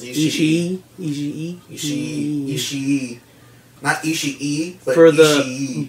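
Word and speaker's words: Ishii: Tomohiro Ichi she really I think it's three syllables Ichi she naughty she eat for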